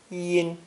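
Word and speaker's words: 茵: This character is pronounced first tone, yin, yin.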